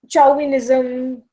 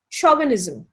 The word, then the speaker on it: chauvinism: So lot of people call it you know um chowinism or chia nism. The actual pronunciation is shaw. CH is being pronounced as sha. Shaunism.